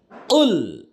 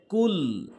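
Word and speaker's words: قُل: উল সঠিক উচ্চারণ, অনেকে ভুল বলে কুল, যার অর্থ দ্বারা হে রাসূল আপনি খান, আর সঠিক অর্থ রয়েছে হে রাসূল আপনি বলুন, বলে দিন। উল এভাবে বলতে হবে।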